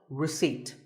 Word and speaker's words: receipt: in Word number 24 receipt the p is silent when you purchase something